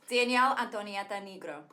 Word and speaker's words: Danielle Antonietta Negro: Danielle Antonietta Negro. And that's how you say it in Italian.